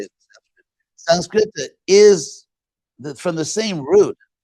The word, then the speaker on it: Sanskrita: Sanskrita is from the same root.